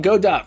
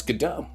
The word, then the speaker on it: Godot: said it g dot I used to call it God dot for many years I called it God dot until I got onto twitch and then people started saying No it's gdau it's gdau g off M interesting